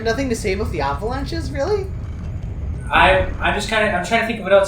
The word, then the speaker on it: The Avalanches: yeah aside you pronoun you pronounced them they Avalanches not avalan I knew you were going to do I knew you were bring it up oh yeah call them The Avalanches it's cuz you're [